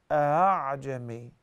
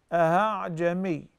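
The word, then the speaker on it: أأعجمي: You say, a'jami, a'jami. It's like you're about to say, a'jami, but you did not really pronounce the hamza from its articulation point. A'jami.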